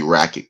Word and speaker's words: Rakić: you got racket rackets is GNA be racket because uh racket is real the real pronunciation um racket man a